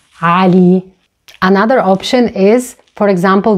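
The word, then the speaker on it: علي: It's a very popular Arabic masculine name and it ends with the long vowel E. In this case, it is pronounced as E, Ali.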